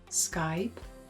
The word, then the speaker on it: Skype: For the word Skype, Alexandra slides from A to I, so I, Skype.